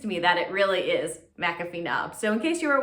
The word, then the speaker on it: McAfee Knob: so that convinced me that it really is mcafee knob so in case you were wondering about the pronunciation i'm pretty confident that it is in fact mcafee knob number five this is one i cannot recommend